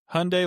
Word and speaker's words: Hyundai: Hyundai likes Sunday and then Elantra. Yeah. I don't know. Some I don't know. It's just interesting. Maybe a different part of the country. It's a Hyundai Elantre.